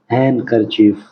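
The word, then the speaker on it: handkerchief: इसमें D silent है। हैंडकरचीफ।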